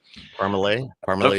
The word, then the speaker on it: Parmalee: right yeah that's but actually how do you say it if you're from there you would there's no way you'd pronounce that right so parmalay everybody's on the same